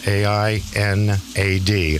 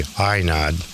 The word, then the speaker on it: Ainad: It's spelled A-I-N-A-D, Ainad.